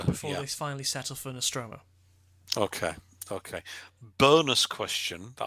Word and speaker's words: Nostromo: nostromo spaceship in alien or nostramo depending how you pronounce it nostromo you pronounce it right this is something i've